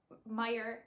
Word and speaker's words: Meijer: is a grocery store i think it's meyer is exclusive to like the midwestern states so i live in michigan um and it's spelt meyer like that not meyer like fred meyer m-e-y-e-r and it's a monthly